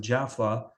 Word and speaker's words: Jaffa: so my granddad was born in yafa which is people pronounce it Jaffa had a Jewish neighbor